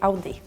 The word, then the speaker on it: Audi: We say Audi. In Spanish, we say Audi. And in Italian, too, we say Audi. In French, we're lazy. We say Udi. But that sounds very cute.